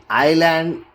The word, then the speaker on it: island: The letter S is not pronounced before L in the following words. And then here, isle, island, isle and islet.